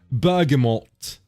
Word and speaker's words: bergamot: Apparently, it's Bergamot. Bergamot. Bergamort. I thought the T was silent. I thought it's not. Oh, wait. It is silent in the American pronunciation, which is weird.